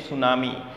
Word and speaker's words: tsunami: like a girl's name tsunami and the tea is silent here this letter t vanes name tsunami so students uh you uh know tsunami when